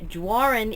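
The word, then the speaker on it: Doiron: it's called almost midnight by Paul Warren and Warren is how you pronounce this name which is spelled do iro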